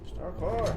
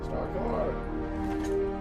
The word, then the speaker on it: Starcore: Star car. Starcore. You gotta say it like parkour, like from what, The Office?